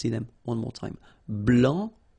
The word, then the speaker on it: blanc: Blanc, blanche, okay, so I wanted to put for each color the masculine form here and then the feminine form here, okay, so here, masculine, blanc, don't pronounce the final C, and then blanche.